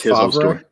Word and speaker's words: Favre: I mean, you may not be a big fan, but you just I believe it's pronounced Favre.